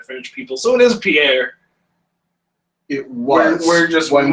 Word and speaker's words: Pierre: Because our capital is Pierre. Yeah, But yeah, That's I know. that's not the name. It's Pierre. Well, the name is Pierre.